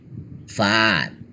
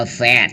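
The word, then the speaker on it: fast: ฟาด เร็ว ฟาด นะ อ่าน ว่า แฟด ก็ ได้ นะ แฟด แฟ ก็ ได้ นะ อเมริกัน อ่าน ว่า แฟ คน อังกฤษ อ่าน ว่า ฟา ฟา ฟา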